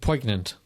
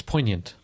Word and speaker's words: poignant: little mini topic here you've twice said poignant and i'm pretty sure that g is not pronounced in that word wouldn't it i think it's poignant check it out put